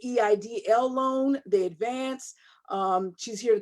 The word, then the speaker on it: EIDL: And tonight, we have the pleasure of having her on this platform to talk to us about, some people pronounce it EIDL. I say EIDL loan, the advance.